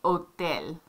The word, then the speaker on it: hotel: so we say hotel they say hotel no h sound hotel um okay